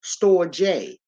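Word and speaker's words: storge: we got the storage s t o r g e is pronounced store J this is the love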